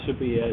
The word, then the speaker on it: Sevilla: Sevilla, as they pronounce it there. They ask their players, and this has been something they've done as far back as I can remember.